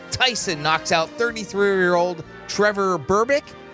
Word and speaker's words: Berbick: 36 years ago today, in 1986, 20-year-old Mike Tyson knocks out 33-year-old Trevor Berbick. Is that how you say his name, Greek? I think so. Berbick?